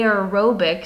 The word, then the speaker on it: aerobic: without using oxygen because that word aerobic a aerobic sounds like the word air or air for oxygen where that prefix and